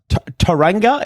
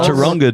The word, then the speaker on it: Taronga: there is another one which Taranga is actually pronounced you got to have a I think it's pronounced Taronga, dude.